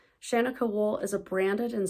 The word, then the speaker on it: Shaniko: Some people pronounce it Sheniko, but I've heard it pronounced Shanico, so that's what I'm going to use. Shanica wool is a branded